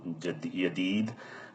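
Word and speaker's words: يديد: So suf the the old silt are the old woolands va jaded um that that's a standard word but j is being turned to y. So yadid uh liberation the the the silk.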